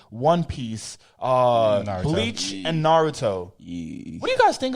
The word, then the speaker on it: Naruto: I'm sorry dog take that out of the film all right bro it's pronounced Naruto sorry bro so what you're telling me is